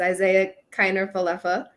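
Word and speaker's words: Isiah Kiner-Falefa: and i learned how to pronounce his name it's isaiah keiner falefa and uh right now booney is calling him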